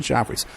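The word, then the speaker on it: Geoffrey's: She appears at Joffrey's.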